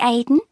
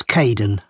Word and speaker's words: Kaeden: Hi, Aidan. It's Caden.